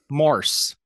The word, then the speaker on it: Morse: you pronouncing it say it again morse morse not more is morse okay i don't know if i'm right or not maybe it is morris you're definitely right okay